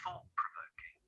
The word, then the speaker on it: thought-provoking: thought-provoking, that's really thought-provoking, can you notice how the T sound at the end of thought isn't pronounced when those two words are together? Thought-provoking, thought-provoking. Instead, I bring my two lips together as if to make a second P. I don't say two P sounds.